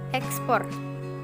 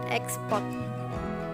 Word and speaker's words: ekspor: juga aspek Tata bunyi contoh pelafalan yang benar adalah Kompleks korps transmigrasi ekspor bukan Kompleks chord transmigrasi dan export Hai terima kasih untuk